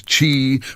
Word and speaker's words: qi: The central concept is chi, pronouncedqi, the vital life force that flows through everything,